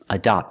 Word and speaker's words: adopt: Adopt with the open sound. The first syllable is a schwa, closed sound, adopt. And the second syllable is the open sound, ah, like hot and stop.